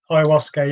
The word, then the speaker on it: ayahuasca: And then you started to tell me about, I think I keep saying it right, an ayahuasca ceremony. Yeah, ayahuasca, yeah.